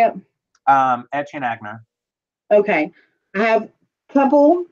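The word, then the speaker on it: Etienne Aigner: Etienne Agner.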